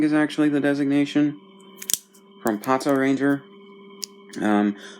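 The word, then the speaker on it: Patranger: A lot of people shortened it to Pot Ranger or Pot Ranger when it came out, but it's Pato Ranger. The the dude who did the voices for the Memorial Mobirates pronounces it that way, so that's what I'm going with.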